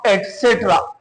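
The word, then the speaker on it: etc.: ईटीसी is pronounce एटसेट्रा।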